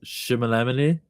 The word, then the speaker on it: Chalamet: How you mispronounce it? Chalamet.